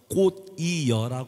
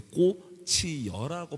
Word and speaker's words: 꽃이어라: 인생의 꽃이라는 부분이 있는데요네 초성에 이응이 나왔을 때는 그 전에 받침을 끌어올려서 꽃 이여라 발음을 하는게 아니라 꽃이어라네